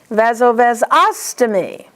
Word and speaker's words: vasovasostomy: Stomy, the accent is on os. Ureteroileostomy. Vasovasostomy.